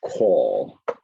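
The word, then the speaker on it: cawl: It's a call. It's deeper than the word call, but it's call.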